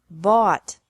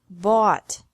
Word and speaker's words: bought: Bought. Bought. Catch. Caught. Caught. Fight. Fought. Fought. Seek. Sought. Sought. Teach. Taught. Taught. Think. Thought. Thought. Remember that the G is silent in these verbs.